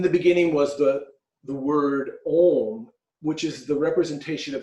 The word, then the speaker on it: Om: the U is like a V and it's pronounced ohm or so it's a Trinity in itself and